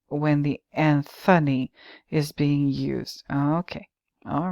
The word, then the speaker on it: Anthony: word anthos meaning flower in Britain the historical pronunciation predominates for both spellings while in the United States the spelling pronunciation is more common when the Anthony is being used okay